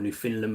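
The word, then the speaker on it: Newfoundland: Yeah, Sheffield Memorial Park's a good one on the um on the SO New Foundland Memorial Park or New Finland Memorial Park, I should say, is how it's kind of pronounced.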